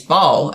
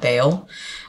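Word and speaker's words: Baal: been worshiping to these ball and I actually just remember or not remembered I just figured out recently it is pronounced Ball by the way and not Bale um I I figured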